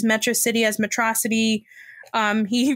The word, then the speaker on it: Metro City: not allo and then instead of metro city he says matrocity um instead of melancholy